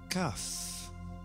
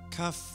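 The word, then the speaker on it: Kaph: of the Harvest Demeter cuff cuff is pronounced as a hard k or a harsh from the back of the throat even harsher than it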